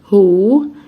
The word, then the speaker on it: who: اول حاجة حرف ال W اللي في الاول اللي هي الوه دي مش هنطقها، هنطق من اول الها، فهقول who am I.